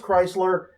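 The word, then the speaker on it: Crisler: CR i SL er it's pronounced Chrysler but it's not spelled like the Chrysler you drive right so Missy RI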